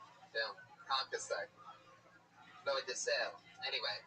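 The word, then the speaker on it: concassé: You could have probably easily have pronounced concasse correctly. Yeah, did I say it right? Yeah, concasse.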